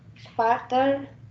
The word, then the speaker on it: später: Ich gehe später nach Haus. Gehe später nach Hause. Ya, ich gehe später nach Hause. A umlaut dibacanya E ya.